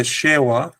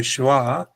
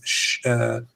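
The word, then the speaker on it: שְׁוָא: All right, this is called, it should be called a shewa or a shwa, but in modern Hebrew, which has a Germanic pronunciation, people say that this is shva. People say shva. That's just a Germanic pronunciation of the W sound. In Hebrew, it's shewa or shwa.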